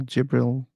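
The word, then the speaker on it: جبريل: But in Arabic, it is pronounced as Jibril. Gabriel. So Gabriel. they're the same concept, right? Mhm. Like the names are similar. Gabriel, Jibril, they're from the same word.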